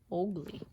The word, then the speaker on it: ugly: Jamaicans pronounce the name Ogly.